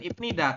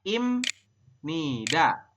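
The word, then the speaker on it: 입니다: berubah bunyi menjadi m Jadi anda membacanya Bukan ipnida tapi dibacanya adalah Im Nida ya dibasanya adalah Im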